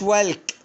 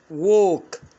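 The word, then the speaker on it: walk: تمام، يبقى ما قلتش والك، ووك يعني يمشي.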